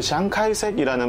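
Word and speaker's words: 蔣介石: 그분의 이름을 따서 이제 처음에는 이 공항 이름을 장카이색 국제공항이라고 했는데 장계석은 우리나라 사람들이 말을 할 때는 한자음을 그냥 그대로 따서 장계석이라고 하지만 장계석의 중국어 발음 은 짱지에시이거든요. 이게 이제 중국어 표준어 발음이에요. 근데 장카이색이라는 말은 어디서 왔냐면 이 장계석의 고향이 중국 대륙의 절강성이라고 하는 곳이에요.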